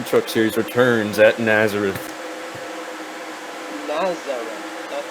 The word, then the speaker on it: Nazareth: Nazareth. That's how you pronounce it.